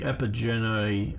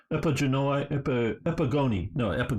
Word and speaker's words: Epigoni: the Diadochi and the Epigenoi, or however you say it, wrote it down, Epigoni, that's how you say it, which is the sons of these guys.